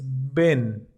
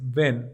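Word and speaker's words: בן: hijo cabe resaltar que la palabra hijo en hebreo se dice ven así se dice ven tomen nota y se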